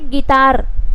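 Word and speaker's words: guitar: पढ़ने, इसका मतलब यू क्या है यहाँ पे साइलेंट करना है, तो क्या करना है, गाइल। उसी तरीके से गिटार, गिटार, अब अगर आप बोलोगे अब गिटार में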